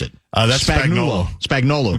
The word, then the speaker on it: Spagnuolo: I can never pronounce it. That's Spagnuolo.